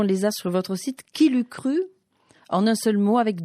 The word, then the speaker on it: KILUKRU: Qui l'eût cru? En un seul mot, avec 2 K, comme voilà. Ça se prononce.